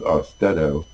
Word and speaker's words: Austedo: Talk to your doctor about this new drug, Austedo. They pronounce it Austedo, like steadiness. I look at it and say Austedo, but that's just my own personal preference to pronounce words, not knowing how they're pronounced.